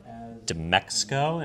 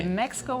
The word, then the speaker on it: DMEXCO: is the CEO of DMEXCO. Am I pronouncing that right? Perfect. Just that I'm not the CEO, Oh, but excuse me. DMEXCO was perfect.